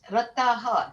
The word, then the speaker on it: रताः: And in the last word, it's Rataha. Not much emphasis on H.